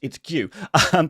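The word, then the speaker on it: Guéhi: And our final player on the bench is Mark Gue, also known as Mark Google how to pronounce his name. I did. It's Gue.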